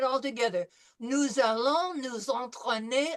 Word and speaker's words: entraîner: So the first one is nous allons nous entraîner à. nous allons nous Antoine, Okay, remember en is en. Entraîner through the nose, not en.